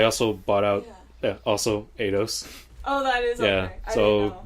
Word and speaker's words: Eidos: I don't know how to pronounce Eidos. Eidos, yeah, Eidos.